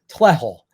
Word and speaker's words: TLEHL: what do you do it's an acronym it's pronounced Tel and it stands for